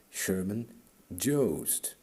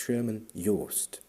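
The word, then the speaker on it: Sherman Joost: You just have to pronounce it German. In English it would sound horrible. Sherman jo. No, no, no. It's Sherman Yst.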